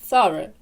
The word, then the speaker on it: thorough: Далі у нас останній іде звук шва, ненаголошене E. Разом у нас виходить thorough. Thorough. І ось рисочка зверху, наш наголос.